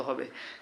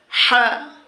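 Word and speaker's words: ح: হবে সা জিম জিম হা এই হা যখন আমরা বলবো গলার ভিতর থেকে এটা মাখরাজ চিন্তা করলে বন্ধুগণ এটি দুই নম্বর মাখরাজ হা এটি হচ্ছে গরু জবাই করে দিলে রক্ত বের হওয়ার সময় যেরকম এক ধরনের আওয়াজ হয় হা এরকম হা এটা হচ্ছে খ খ দাল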